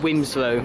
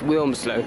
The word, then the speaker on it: Wilmslow: you pronounced it actually my dad always pronounces it Winslow which drives me nuts i reminder every time it's Wilmslow yeah okay we're going